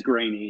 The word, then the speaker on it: Greaney: when people mispronounce it but it is grainy yeah okay sounds good